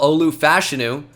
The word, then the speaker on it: Olu Fashanu: Well, Olu Fashanu is how that's pronounced now.